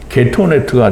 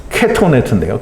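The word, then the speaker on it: כתונת: 이 겉옷은 게토네트가 됩니다. 게토네트. 게토네트는 이제 우리말 발음이고요. 케토네트인데요. 케토네트.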